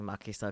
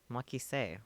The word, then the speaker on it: Makise: You're asking for trouble by trusting Makisa Kurisu. Makisa? Makise. Why did I say it wrong?